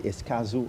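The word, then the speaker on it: Escazú: to help me with this I hope I pronounce it uh correctly uh there's an agreement called the escazu agreement yeah I got it right you got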